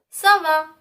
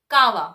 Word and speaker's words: ça va: So, when we find this particular accent beneath C, then we have to pronounce it as S. Like for example, ça va, sa, ça va. If we do not have an accent beneath C over here, then we will pronounce it as kawa. And kawa is not a French word.